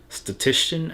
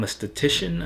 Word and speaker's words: aesthetician: arch look and now i'm a statistician uh and now i'm aesthetician uh that's how you say it's the statistician um